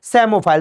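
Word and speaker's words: psammophile: जी हां P silent होता है उसमें। सो सेमोफाइल सेमोफाइल मतलब सैंड लविंग प्लांट।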